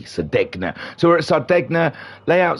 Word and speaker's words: Sardegna: Vodka Rob saying, I pronounce the D as well. Good for you. Yes, Sardegna.